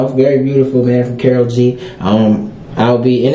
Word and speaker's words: Karol G: was Selena sound so uh shout out to Carol G man yesterday that's how you say it what